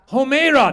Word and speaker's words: Homeira: Homeira. That's a Persian name, Blake, right there. Multiple syllables.